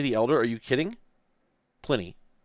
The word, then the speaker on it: Pliny: Apparently it's Pliny. Well, at least... okay, I'll give it that, because I bet if I go over to the wiki page... even assuming it's correct with that pronunciation. But let me go to the wiki page. Yeah, so... I don't know if this is correct, but at least it says Plin E, whereas the wiki page